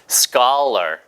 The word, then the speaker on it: scholar: scholar. 이게 S 다음에 CH 발음이 수촐라가 아니고요. scholar예요. 그럼 이게 어떻게 이렇게 됩니까? O 발음이 박살 때처럼 R로 난 것뿐이고요. CH가 추 발음이 아니라 K 발음이 나더라.